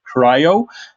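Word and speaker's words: CRI-O: services then we have crio which we should pronounce as cryo which is the openshift containers initiative or oci compliant container runtime and cryo is used as a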